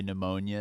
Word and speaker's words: pneumonia: front and it's like the way pneumonia is spelled it's just a silent p but all the other